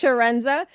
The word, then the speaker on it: Chiarenza: The like an S, so it's Sharenza.